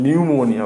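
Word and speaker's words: pneumonia: ठीक है ना, फिलहाल आज आप भी जान लीजिए कि निमोनिया की स्पेलिंग एन से नहीं पी से होती है। इसमें हम न्यूमोनिया बोलते हैं।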